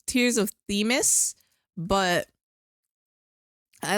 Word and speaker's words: Themis: I guess it's actually pronounced Tears of Themis, but I like to say Temis because that's what I'm used to. It's Themis.